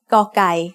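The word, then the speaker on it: ไก่: The sound of gai as the initial consonant of a syllable is g. It is very similar to a hard G or an unaspirated K.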